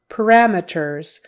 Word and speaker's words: parameters: next word parameters parameters syllable stress is on the second one parameters and so meters not meters we wouldn't say parameters it's one of those where we just kind of go MERS MERS parameters parameters it or ET parameters parameters parameters it's a non-stress syllable so parameters parameters parameters